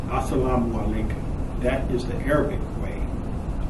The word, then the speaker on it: Assalamu alaikum: If you listen to that, Assalamu alaikum, do you notice how the lay sound is a little louder in the other parts of the words? Assalamu alaikum. That's the Indian way of pronouncing those words. Research the words Assalamu alaikum and you'll see that in Arabic, the greeting is not pronounced Assalamu alaikum. In Arabic, they say Assalamu alaikum, Assalamu alaikum.